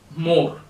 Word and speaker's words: Moore: The same pronunciation we use for more, M-O-R-E. So the pronunciation should be like this, Moore.